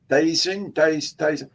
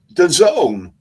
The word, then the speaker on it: DAZN: Dazing? And you see an advert, the zone, DAZN, Really? the zone.